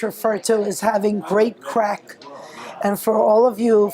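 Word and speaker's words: craic: Good spirits, good fun, good crack. And it's spelled C-R-A-I-C, just in case you think there might be some confusion there.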